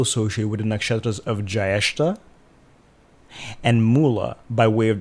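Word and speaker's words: Jyeshtha: Goddess Alakshmi has long been associated with three other goddesses, namely Jyestha, with a long A vowel, goddess Nirriti, who is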